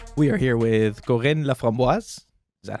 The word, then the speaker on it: Laframboise: We are here with Corinne Laframboise.